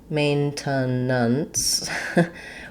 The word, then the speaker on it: maintenance: So in the dictionary, you'll see that T. You'll see a schwa, which sounds like an double schwas, and the N sounds. But in connected speech, we don't really say it that clearly, maintenance.